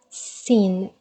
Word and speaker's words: سين: teeth so sin sin it's how you pronounce letter s it's so similar but it's pronounced in more sharp tone okay but it's more